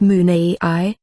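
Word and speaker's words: munay: industriousness monacula west water monet pronounced moon a i which means compassion and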